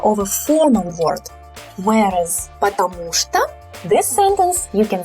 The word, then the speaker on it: потому что: Потому что, here we have unstressed O's. So the stress falls on U here, потому что. So when we say it quickly, we reduce these O's. So we don't say потому что. We say потому что, потому что.